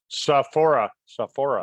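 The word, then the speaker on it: Sophora: How would you pronounce that? Sohora? Saphora.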